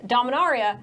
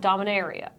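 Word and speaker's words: Dominaria: history of dominar yeah it's dominar eeeh not da mineira so we've all been pronouncing it wrong this whole time yeah but dominar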